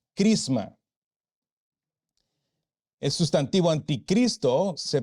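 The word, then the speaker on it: χρῖσμα: en el idioma griego el sustantivo unción que aparece Allí se pronuncia crisma es antivo anticristo se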